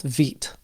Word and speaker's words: Vite: We're going to be using the recommended build tool called VIT. And yes, it is pronounced VIT. That's French for quick or fast.